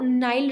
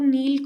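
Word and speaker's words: Nile: और इन्होंने बोला कि जो नाइल रिवर का मड है। बहुत लोग नील को मतलब नील रिवर बोलते हैं, नाइल रिवर भी बोलते हैं।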